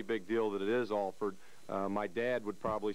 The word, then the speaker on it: Alford: But, you know, I've always made it a pretty big deal that it is Alford.